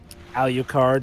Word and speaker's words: Alucard: Alucard, yes, his father's name backwards. No. Why do you pronounce it like that?